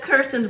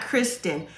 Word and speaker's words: Kirsten: But in Shaquille and Kirsten's quick scene, one of Kirsten's bridesmaids says to Shaquille, you know what? Make sure you get her name right. It's Kirsten, not Kristen.